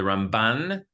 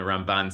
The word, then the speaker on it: Ramban: So the way that we distinguish is you hit the Rambam first syllable and the Ramban second syllable. Okay, so just some Jewish literacy, for you. The Rambam and the Ramban.